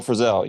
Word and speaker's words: Frisell: Yeah, Bill Frisell.